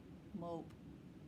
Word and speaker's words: mope: And if you add a silent E, it makes it mop with a silent E, m-o-p, with a silent E on the end, mope.